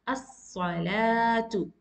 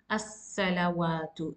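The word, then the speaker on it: الصلاة: So you will prolong the sound and pronounce as as-salatu and not as-salawatu. It's totally wrong. You need to eliminate the sound of waw.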